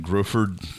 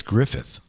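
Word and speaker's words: Gruffudd: Ian Griffford. Griffford. How did I How bad did I butcher that? I think it's Griffith. Griffith. Even though it's not spelled that way at all.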